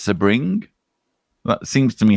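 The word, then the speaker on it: Sebring: guess hello from sunny sir bring a zit pronounced sir bring that seems to me how it should be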